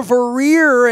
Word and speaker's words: Vorreyer: She is Vorreyer, and I'm pronouncing that right. That's Vorreyer.